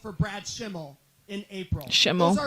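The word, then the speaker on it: Schimel: Shimmel. That's how you pronounce it.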